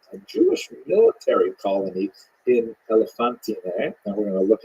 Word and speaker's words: Elephantine: Now, I always pronounce that, by the way, Elephantine. I looked a little more carefully. I think it's supposed to be pronounced Elephantine. Maybe someone in the comments will correct me if I get that wrong.